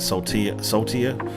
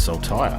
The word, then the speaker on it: Saltire: as I can, and I was pronouncing it saltier. I would never have thought to pronounce it as saltire.